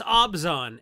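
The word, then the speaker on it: Abzan: is necropotence okay Mr artificer hey man it's abzon and you can be mad but it's actually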